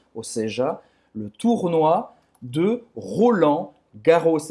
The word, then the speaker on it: Roland Garros: Les Internationaux de France, ou seja, le tournoi de Roland Garros. É assim que se pronuncia em francês. Roland Garros. Ou seja, vai pronunciar esse S no final, tá?